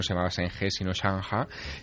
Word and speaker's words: Zheng He: Allí no se llama Zheng He, allí se llama Chang Ha, que es...